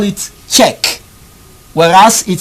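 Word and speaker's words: Čech: check this was his this is surname better check check is spelled see ec h c ec h does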